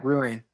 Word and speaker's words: Ruane: You Wayne is how you say your last name, right? Yeah. Yeah. Ruane.